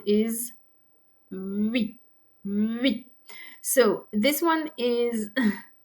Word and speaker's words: oui: So you have your lips round tightly as if to say u, u, but then pronounce the e. Oui, oui. So it's kind of two sounds in one.